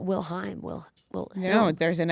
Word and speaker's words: Wilhelm: But I honestly don't know if I'm going to pronounce it correctly. Sure, give it a try. Leonardo Wilhelm DiCaprio. Yeah, Wilhelm. It's Wilhelm.